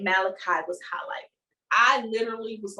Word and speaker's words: Malachi: His name is Malachi.